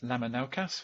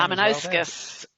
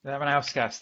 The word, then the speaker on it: Lamanauskas: So next week we have Thomas Lamanaukas, which I've probably also butchered his name. Lamanauskas. Lamanauskas. There we go.